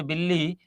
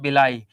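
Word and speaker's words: villi: जाता है बिलाई सेल्स यहां तुम लोग पढ़ोगे बिल्ली लेकिन स्पेलिंग यही होती है इसको हिंदी में या बोल इसको बोलते क्या है इसको बोलते हैं बिलाई तो ये बिलाई कोशिकाएं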